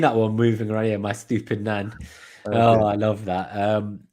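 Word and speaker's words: Estupiñán: I like it's, if you don't know how to pronounce Estupinan, listen to the Planet FPL Clash of the Correspondents, and Sam, the correspondent, he said, "My stupid nan." My stupid nan.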